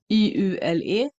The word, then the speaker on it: Jul: In Sweden we say Yule. um, we pronounce all of the letters, and the last one that you pronounce E, we pronounce Yule. Yule becomes Iule, Yule.